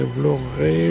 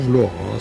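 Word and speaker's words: Vlorë: Après 10 jours passés dans l'intérieur des terres, voilà où je couche ce soir, c'est Vloré ou Vlora, ça dépend de la prononciation.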